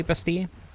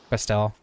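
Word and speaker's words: Bastille: A few years ago, I looked up um how the band was pronounced, and it is supposed to be Basti, but they they say most people pronounce it Bastile, and they're fine with it.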